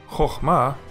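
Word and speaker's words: חכמה: Chochma sounds just fine. There is no need to pronounce the shava.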